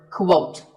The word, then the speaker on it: quote: Up next is the word quote. This is not pronounced the same as coat. The correct way to say it is with a qu sound at the beginning.